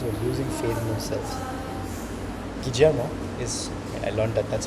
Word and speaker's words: Guillermo: Guillermo is, I learned that that's how you spell the name. Apparently, double L is pronounced J in Spanish. I didn't know that.